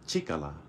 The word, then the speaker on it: 力: pronounced bold by itself by itself this is pronounced chicola by itself I know that for a fact